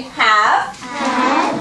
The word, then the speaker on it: have: the end e silence the e is silent we don't hear it but you still need to write it this way okay so say have said these stories these